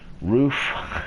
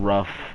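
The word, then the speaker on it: RUF: have Reynolds or whatever roof it's actually roof are you f not rough a lot of people called it that but I don't know it's what I've heard is its roof saline she'll be slick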